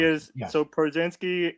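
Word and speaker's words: Pierzynski: I'm gonna go catcher on this one, and I'm gonna go AJ Przinsky.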